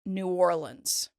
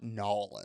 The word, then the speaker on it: New Orleans: TV and movies so people who are from here pronounce it New Orleans it's not yes New Orleans it's not for the love of God it is not Noland it's not Noland nobody says that oh